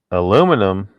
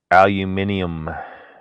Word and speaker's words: aluminium: Unironically, the other day, aluminum. That's the way Americans say it. Aluminium would be the proper way to say it.